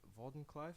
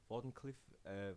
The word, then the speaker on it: Wardenclyffe: yeah he made the Borden Clyde Wardenclyffe I think he's pronounced Wardenclyffe Wardenclyffe tower and essentially it's